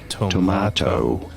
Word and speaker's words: tomato: is normally pronounced as tomato.